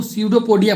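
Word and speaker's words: pseudopodia: सूडो पोडिया बोलते हैं इसमें जो पी आता है ना पी पी होता है साइलेंट ठीक है जैसे निमोनिया निमोनिया लिखते हैं ना वो भी पी से लिखा जाता है जिसके पहले में पी आ है ई आए ठीक है ऐसा है वो उसके आगे पी जो आता है वो साइलेंट होता है यहां पर पी क्या है साइलेंट है इसको सूडो पोडिया पढ़ते हैं ठीक है पी नहीं पढ़ते यहां पर का बनना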